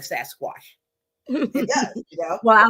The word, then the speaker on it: Sasquatch: repeat it one more time how do we pronounce it all right it is SAS Squatch all right got it remember watch watch yeah